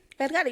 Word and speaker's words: Vergara: You know, how do you say her name? Vergara. You said it right.